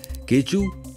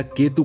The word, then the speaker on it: K2: यहां तक कि बाल्टी लोग इस K2 का उच्चारण केचू या केतु करते हैं।